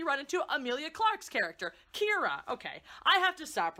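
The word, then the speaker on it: Qi'ra: When you spell it Kira, Q-I apostrophe R-A, you're like, ooh, that's some funky Star Wars. No, it's not. It's just Kira.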